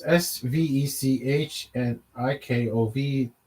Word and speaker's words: Svechnikov: to, and I don't hear his name being pronounced on the air. So that's Sweat. So it's Svechnikov.